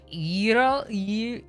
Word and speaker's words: gyro: trouble pronouncing, even though I know technically that the gamma is actually more like gamma. It's like in the back of your throat, and I like can't do it. So it's like gyro. I can't do it.